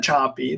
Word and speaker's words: Sapi: that there when um Eva choppy that her last name is spelled sapi Eva choppy runs one of the